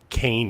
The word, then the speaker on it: Kean: thing I know about Kane University not Kean dude just getting the